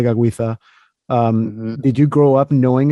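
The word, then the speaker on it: Tekakwitha: But you use the Mohawk pronunciation, Gadali de Gaguitha.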